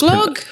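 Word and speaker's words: glögg: I think it's pronounced glug, but it's glug.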